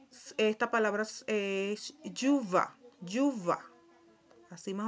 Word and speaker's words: chuva: Y esta palabra es yuva. Yuva, así más o menos se pronuncia, chuva.